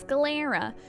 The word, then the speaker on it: sclera: It's pronounced sclera.